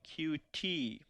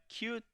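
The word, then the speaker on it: Qt: I don't mean this cute puppy unfortunately but rather I mean cutie a framework that we'll be using to help us write our desktop application it in fact is pronounced cute whether that's intentional or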